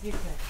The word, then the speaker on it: buffet: 이게 원래 불어예요. 이거 불어로 하면 뷔페 이러거든요. 뷔페? 뷔페? 근데 이걸 영어로 발음하면은 마치 Y로 끝나는 것처럼 발음돼요.